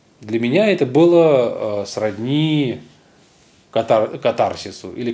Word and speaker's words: катарсис: Для меня это было сродни катарсису или катарсису. Вообще правильно говорить катарсис, но благозвучнее говорить катарсис.